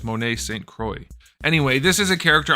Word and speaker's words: Monet St. Croix: Marvel Legends X-Men build a figure chode wave Monet Street Croix I couldn't help myself I know it's pronounced Monet singha it's not pronounced that way either it's Monet Saint Croix anyway this is a character I don't know